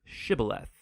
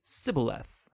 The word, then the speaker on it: shibboleth: pronounce the Hebrew word shibboleth it turned out that the ephraimites had grown up pronouncing that word differently so instead of saying shibboleth they would say sibileth when that happened the